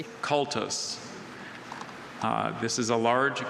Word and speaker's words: cultus: Sahaley wrote an honors thesis on the chemical reasons for the distinctive coloration of the rare blue cultus.